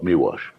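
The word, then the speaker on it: Miłosz: That's so you actually pronounce it's it's spelled mosh, but it's pronounced miwash.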